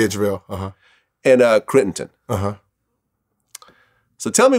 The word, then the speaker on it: JaVale: Am I pronouncing his name? Yeah, JaVale.